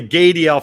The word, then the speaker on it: Gadiel: it we love the gay DL Family I've told I butchered your name so I was told rhymes with radial that's somebody getting work